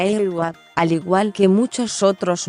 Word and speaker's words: A-WA: en mayo de 1948 agua es como un ok en árabe y se pronuncia el gua al igual que muchos